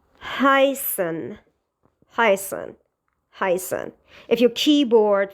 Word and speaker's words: heißen: However, it's pronounced as S. For example, is in heißen.